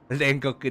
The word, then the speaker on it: 煉獄: これどうやって読むんだ？ちなみに調べます。煉獄かな？煉獄だ。何？鬼滅の刃の煉獄のこれですかね？ It's purgatory. It's read as 煉獄。Hold on. Demon Slayer. 煉獄。 Rengoku da.